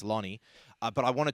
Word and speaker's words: Loni: do apologize for that I said loony it's not Looney it's lonie uh but I want